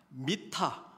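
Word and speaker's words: מִטָּה: 미타, 그러니까 영어로 하면은 MTH, 이 히브리 알파벳의 그런 자음이 MTH인데, 발음을 미타라고 발음을 하면 침상이 되고 마테라고 발음하면 지팡이가 되는 것이거든요.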